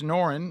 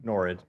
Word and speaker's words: Nored: All right, now we also have Darren and Hayes Norin. Is that how you say it? Norin? Nored. Norin? Nored. Nored? Nored. Is that a D? D.